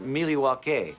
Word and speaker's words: Milwaukee: thing I learned about Milwaukee is actually it's pronounced miliwaki which is Algonquin for the good land does